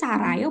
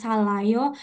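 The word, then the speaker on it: 살아요: Oke, nah teman-teman, tadi kita lihat ya, kalau di bawah kan jadi L. Sam kok katanya jadi L, kok ini Sarayo bukan Salayo. Nah, kalau ini jadi L, kalau di sininya nggak ada apa-apa nih, di sini ceritanya nggak ada apa-apa gitu. Tapi begitu teman-teman, oh di sebelahnya ada vokal nih, ada A, ya udah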